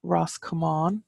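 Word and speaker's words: Ros Comáin: Roscommon so that's Roscommon and that comes from Ross come on which is commands would I was right what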